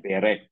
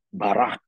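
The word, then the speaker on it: ברך: Kalau berkat, kalau dalam bahasa Ibrani itu kan BRK, tulisnya BRK, bacanya berek, ya kan? Berek atau barak itu artinya berkat.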